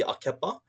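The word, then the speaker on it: ʻAkepa: Then we move down into this one over here, which is the Hawaii Akepa. Akepa is pronounced A-ke-pa.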